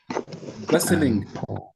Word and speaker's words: bustling: ሳይበዛ ግርግር ምናምን። Bustling. T is silent here.